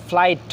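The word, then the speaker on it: flight: ফ্লাইট হচ্ছে আকাশপথে গমনন।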